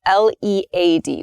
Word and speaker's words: lead: talk about the noun the noun form is pronounced lead lead so the noun form